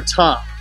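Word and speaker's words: Ptah: of the deity called Fatah or top if you use the silent P pizza which was phonetically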